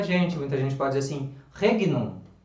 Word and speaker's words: regnum: muita gente pode assim regnum não é rede não porque porque o reino porque é GN as pessoas vão falar rede não mas não é rei não porque a comune Itália o gene ele tem é assim ao mesmo valor para nós tem o NH certo então é o som